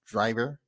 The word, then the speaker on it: Draiver: It's pronounced DRAIVER, kind of French.